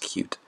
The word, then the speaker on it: Qt: also known as cuticle it's actually is actually its name pronounced cute so that's an important